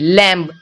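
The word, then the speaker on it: lamb: है तो यहां पे बी का कोई भी उच्चारण नहीं हुआ है एल ए एम बी लैम लैम लैम मतलब होता है मेमना देखिए यहां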